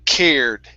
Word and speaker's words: cared: the word cared okay give me a little bit more r here um cared there you go okay